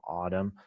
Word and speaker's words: autumn: Here's an example of a unique exercise, silent N, condemn, autumn.